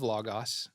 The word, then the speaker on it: Logos: You don't have to know Hebrew to Logos, right? yeah, Logos. Yep. Which is ironic because it's supposed to be pronounced logos, but it's fine.